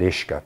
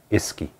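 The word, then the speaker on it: uisce: pronounce it correctly so if you take the word ishka the irish word for water and to spell it it's spelled u-i-s-c-e and if you don't know how to pronounce that correctly and you try to pronounce it phonetically you pronounce it iski u-i-s-e-e iski so they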